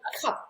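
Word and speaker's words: Marizanne Kapp: So because a lot of people, some people call it Cappy, but it's actually Marizan Cup, because it's the Afrikaans pronounces A that way. It doesn't pronounce it as Cap.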